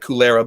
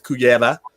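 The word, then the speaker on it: Cullera: If I said it right, it looks like Culera, but it's Cuyera and Barcelona.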